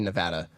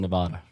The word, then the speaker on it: Nevada: think Chicago bully be Nevada Nevada it's actually Nevada no it's actually Nevada it's not I don't like it either it's it's Nevada it's not Nevada I don't like it